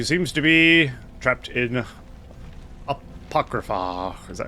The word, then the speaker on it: Apocrypha: Sir Knight who seems to be trapped in Apocrypha. Is that how you say it? Apocrypha, yeah.